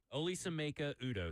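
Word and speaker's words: Olisaemeka Udoh: Oli Semeka Udo.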